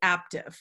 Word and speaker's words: Aaptiv: It's AAPTIV. I know that's confusing. Oh, like active, yes.